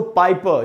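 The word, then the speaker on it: Piper: पाइपर भी दोस्तों वही रूल लगा है, आर का उच्चारण हमको नहीं करना है, तो पीटर पाइपर।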